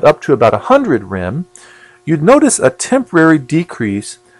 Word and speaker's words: rem: in what's called REM REM pronounced rim stands for radiation effect